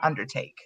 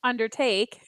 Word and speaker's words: undertake: Credit card, colorful, and undertake. You ready, ladies? Undertake. What did I say? Undertake. Like you so want it to be Undertaker. Oh. Like you put the emphasis on the wrong syllable.